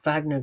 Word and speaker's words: Wagner: just kept hearing them thank you for pronouncing the in the true Germanic form Wagner um so I